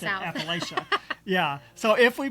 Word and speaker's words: Appalachia: I think we usually say Appalachian. See, that's how I've always pronounced it. But I think there it's Appalachia. Yeah, she said it's Appalachia. There's a latch in the middle.